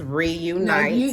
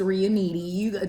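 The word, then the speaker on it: Riunite: The red is by, I'm not sure how to pronounce it, but I believe it's Reunite. No, it's Reuniti.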